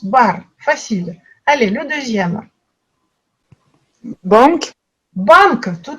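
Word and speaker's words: банк: Et là, on voit qu'il n'y a pas de son, dans ce mot, il n'y a pas de nasal. Les Russes n'ont pas de nasal, donc ça se prononce, chaque lettre se prononce banque, banque.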